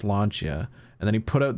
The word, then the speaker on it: Lancia: I point out I taught slap how to pronounce lancha and then he put out the video and some kid on Twitter was like actually it's pronounced Lancia yeah and then I put a get ready